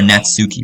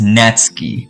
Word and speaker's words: Natsuki: I used to call her Natsuki, bro. Her name is Natsky. That's how you pronounce it.